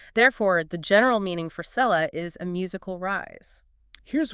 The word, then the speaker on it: selah: Keel argues the current Masoretic pointing of the vowel sounds, which gives us the pronunciation selah, might be a later imitation by scribes. So, they might have changed how it sounded. Yeah, originally it might have been pronounced salal, specifically meaning an elevation.